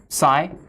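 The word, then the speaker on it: psi: it tells you so it's not F and S what it is spelled like this this is SII and this is fi okay SII and fi SII and fi they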